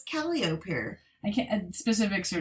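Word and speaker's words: Calliope: this they have a street that is called calop not copy is it actually pronounced that yes what I was like oh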